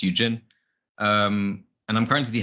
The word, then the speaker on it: Juxhin: uh but really briefly my name is Eugene um or if you wanted to pronounce it natively it's Eugene um and I'm currently